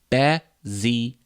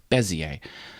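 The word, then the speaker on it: Bézier: These are called Bezier curves. That's how to pronounce it. It's a French word, Bezier. Bezier.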